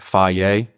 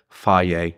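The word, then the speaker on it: Fage: If you guys want true Greek yogurt, Faye. It's spelled phage, but that's the number one Greek yogurt that you guys should get.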